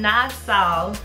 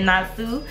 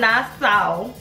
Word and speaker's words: Nassau: but they are from nasau Bahamas and she told me how to correctly pronounce nasau cuz I said nasu at first and she was like GRS had it right okay GRS had it